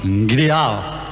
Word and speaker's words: GDAE: It's called GDAE, pronounced Gidiao.